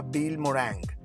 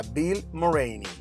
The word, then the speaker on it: Vilmorin: cierto todo este tiempo yo pronunciaba mal su apellido no era bill moore anc era bill murray ni a continuación otro híbrido